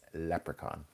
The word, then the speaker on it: leprechaun: Have you seen a leprechaun? But no, it's leprechaun. Leprechaun.